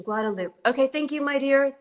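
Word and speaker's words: Guadeloupe: what you all have to say yes good pronunciation guadaloop okay thank you my dear thank you thank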